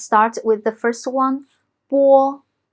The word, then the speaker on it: 波: So let's start with the first one, 波. It sounds like phonetic b in English, but it's softer. Now let's practice with some finals. 八, 波, 逼, boo.